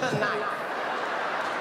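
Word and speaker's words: knight: that would be kite night this is what she told me in front of the whole class she said the K is silent I said then take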